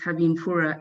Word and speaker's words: Habimfura: Yes, it's Habimfura, yeah.